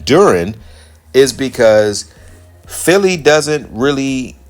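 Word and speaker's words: Duren: And that's Jaylen Durant. And the reason why I'm running Jaylen Duran, let me say his name correct. Jaylen Durren is because Philly doesn't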